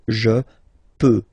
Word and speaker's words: je peux: je, as usual, so je peux, okay? Final x not pronounced here, okay? So you get x, but you don't pronounce it, so basically you get the sound peut, je peux, okay?